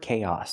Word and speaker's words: chaos: Remember the word chaos, the pronunciation. It doesn't match the spelling. Chaos. Use the k sound like cake, plus the long A, K, and then the ah sound like hot and stop. Chaos. We link the two vowels with the y sound like yes and yesterday. Together, chaos.